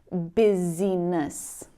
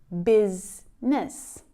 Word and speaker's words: business: Instead of looking at the letters in this word and trying to pronounce them, maybe saying busyiness, you'll see the actual sounds that combine to produce the word and pronounce it correctly.